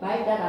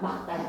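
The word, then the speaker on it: 맑다: 근데 말다는 좀 헷갈려. 막다인지 말다인지 발음이 되니까 여러분이 시험 시간에 중얼중얼거리면서 막 발음으로 표면 안 돼. 외워야 돼. 닐 기억에 대표면 무조건 뭐라고? 기억에 말다가 아니라 막다야. 막다.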